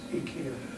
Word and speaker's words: IKEA: So, apparently in England now, that one is being referred to as IKEA. Even on all their advertising on TV now, it's pronounced IKEA.